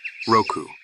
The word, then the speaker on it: 六: It is pronounced Roku and has 4 strokes.